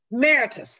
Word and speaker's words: emeritus: is the is it emmer when you're the emeritus emeritus that's right i never can say it correctly